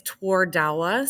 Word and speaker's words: Twardawa: I mean, you say it just the way it's spelled. It's Twardawa.